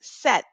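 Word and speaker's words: sept: seven and it is Set set set notice that I'm not saying the letter P for this word I'm actually just skipping over it and just it the p is silent so what we're really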